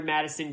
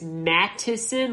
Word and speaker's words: Mattison: they like that alexander madison guy i know and i think i might be pronouncing his name wrong the whole time i think it's mattison like m-a-t-t-i-s-o-n i know that's how it spells but um uh if